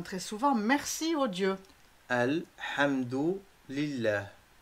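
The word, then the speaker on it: الحمد لله: Alhamdu lillah. Vous avez le prononcé comme s'il y a 4 mots. Alhamdu, avec le H expiré dans la gorge d'une façon aiguë.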